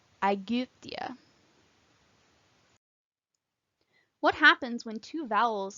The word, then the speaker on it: Aegyptia: Y is pronounced like the French U, Aegyptia.